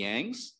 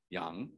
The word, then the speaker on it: Young: spelling y-o-u-n-g because it sounds more like the way our name should be pronounced in chinese right yang right uh and then